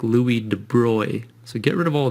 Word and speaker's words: de Broglie: named Louie de Bry now it looks like you pronounce this Louie de brogle and that's what I always said I always read this and I said de brogly in my mind and I knew that wasn't right if you look it up